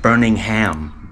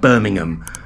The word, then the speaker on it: Birmingham: When they pronounce it Birmingham, Birmingham. Look, if you're going to nick our place, it's called Birmingham. But it's the American inflection, isn't it?